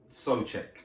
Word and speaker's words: Souček: Thomas Souček is how you pronounce it. Supercheck is easier.